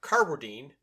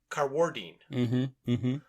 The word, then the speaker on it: Carwardine: And I was saying Mark Carwardine, but he puts the accent on the second syllable, so he's Carwardine.